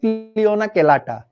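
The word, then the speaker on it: Cliona celata: এটাও নামের বানান ভুল হইতে পারে, বাট এরকমই, ছিল না ছেলেটা, এইভাবে মনে রাখতে পারো যে ছেলেটা ছিল না, সো ছিল না ছেলেটা, উচ্চারণ হচ্ছে ক্লিওনা কেলাটা।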